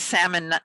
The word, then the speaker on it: Sammon: And it's salmon, said like the fish, but it's spelled Sammon.